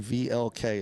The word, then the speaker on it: Vlk: Owen VLK is how you say it.